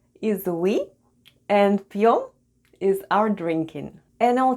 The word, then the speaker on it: пьём: is Russian for "we" Let's spell the word ПЬЁМ /p'yom/. The first sound is /p/, then goes Soft Sign... and Soft Sign makes the proceeding letter sound soft so we have /p'/. Then goes Ё /yo/... and М /m/. And all together it's ПЬЁМ /p'yom/ ПЬЁМ /p'yom/, which is Russian for